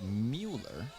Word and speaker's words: Mueller: pass stolen away by Mueller says it's a soft you in my pronunciation guide I wonder we'll see